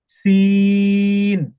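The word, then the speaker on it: سين: সিন সিন সিন সিন সিন সিন সিন এভাবে একটু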